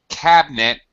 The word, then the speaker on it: cabinet: that opens all right by the way cabinet this is an English word where uh Anna we don't we normally drop the vowel this is an example of a word where we drop the vowel most English